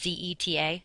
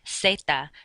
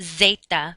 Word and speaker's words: zeta: So, for example, how you say Z in Spanish is Z-E-T-A, zeta, not zeta, but zeta.